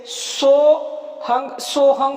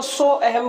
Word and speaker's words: सोहं: भी बता देते हैं, सो और बीच में एक एस जैसा ए होता है, वो होता है साइलेंट, यानी कि उसकी आवाज नहीं आती, और फिर है और ऊपर अंग की मात्रा। तो ये बोलने में सोहंग, या कई लोग इसको सो अहम बोलते हैं, बात एक ही है।